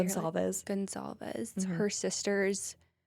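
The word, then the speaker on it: Goncalves: Gonsalves.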